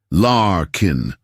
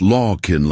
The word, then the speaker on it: Larkin: He'd pronounced her name correctly. Larkin, not Lawkin like most people did.